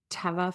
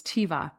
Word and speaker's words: Teva: So, you might appreciate that I mispronounced Teva Pharmaceuticals for a very long time as Teiva Pharmaceuticals.